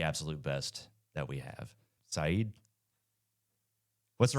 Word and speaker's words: Syed: Syed? What's the right way to say your name? Yeah, I think we've been on a few calls together and Just a few. Yeah, Not many. it's Syed. Syed.